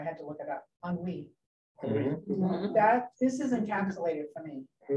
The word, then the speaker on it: ennui: from French, and I never knew how to pronounce it. I had to look it up. Ennui.